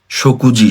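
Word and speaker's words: 食事: হ্যাঁ, আবার শকুজি, শকুজি মানে হচ্ছে মিল বা খাবার।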